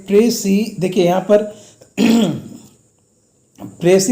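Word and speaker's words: précis: देखिए यहाँ पर प्रेसी में PRECIS। ऑलवेज लोग क्या करते हैं ना कि इसका प्रोनाउंसिएशन ही मतलब कि गलत करते हैं। एस इसमें साइलेंट रहेगा, S will be silent hair and the right pronunciation is प्रेसी।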